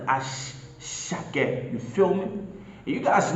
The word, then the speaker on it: Asake: Yes, it is spelled Asake, but in Yoruba it sounds like Ashake.